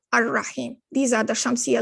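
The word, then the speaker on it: الرحيم: Notice how here you do not pronounce the lam in the al here. You're going ar-Rahman, ar-Rahim.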